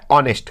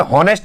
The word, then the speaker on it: honest: ऑनेस्ट। क्या आता है? ऑनेस्ट। देखने में हॉनेस्ट लग रहा है, HONEST, देखने में लग रहा है हॉनेस्ट, लेकिन ये पढ़ाता है एच साइलेंट होता है, इसे पढ़ते हैं ऑनेस्ट, तो इसमें भी हम